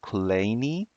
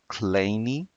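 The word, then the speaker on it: Kleene: was invented or introduced by American mathematician Stephen colini yeah his name you know did the pronunciation of his name is a little bit different so it's claimy and he is also known for the vs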